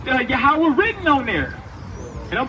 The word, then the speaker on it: Yahweh: Yahweh is the true spelling is YHWH. Right? That's the tetragrammaton. Right? YHWH. That pronounces Yahweh.